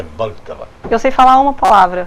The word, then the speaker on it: Vltava: E se escreve V-L-T-O-T-A. Mas não tem o O, mas é Vltava.